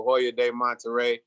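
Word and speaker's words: Hoyo de Monterrey: And today, just so that people know, I have a Hoya de Monterrey.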